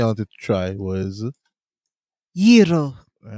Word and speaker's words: gyro: It's gyro, and you have to roll the. You have to roll your R's and whatnot.